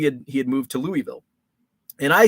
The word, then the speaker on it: Louisville: Southern accent I say Louisville like a damn Yankee Louisville laughs I know the true like the proper pronunciation is Louisville you just say it with as few uh vowels as possible my actual my the